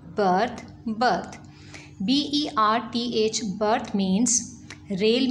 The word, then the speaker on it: berth: As you see, both of these words have similar pronunciation, birth, birth.